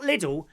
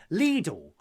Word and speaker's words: Lidl: It says, however, in Germany, the store is actually pronounced Lidl. Lidl. Lidl. Not Lidl, Lidl. We're saying it wrong for years.